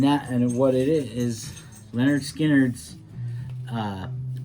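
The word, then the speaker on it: Lynyrd Skynyrd: ticket um and that and what it is leonard skinner's uh pronounced leonard skynyrd this is an album that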